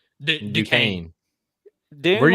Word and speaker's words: Duquesne: Dunsky? Duquesne.